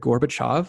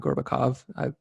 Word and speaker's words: Gorbachev: I wanted to note that I've always heard it Gorbachev, not Gorbakov. Maybe those are two accepted pronunciations or something like that. But I might be wrong. I don't know. Yeah, I'm pretty sure it's Gorbachev. Okay.